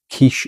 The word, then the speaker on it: quiche: part of a package, even though by then the French had stopped pronouncing the W part. Quiche is just quiche.